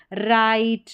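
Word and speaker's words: write: यहां पर जो है डब्ल्यू साइलेंट रहता है। डब्ल्यू आर का कॉम्बिनेशन रहेगा और डब्ल्यू यहां पर साइलेंट रहेगा। तो ये देखिए स्टार्टिंग में डब्ल्यू आर है और यहां पर जो डब्ल्यू है वो साइलेंट है। राइट रॉन्ग रैप रिस्ट तो यहां पर आर से उच्चारण हो रहा है। डब्ल्यू साइलेंट है लेकिन स्पेलिंग लिखेंगे तो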